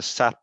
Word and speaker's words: SAT: And the SIM card library is called the SAT browser. That's pronounced SAT, S-A-T, or SAT browser.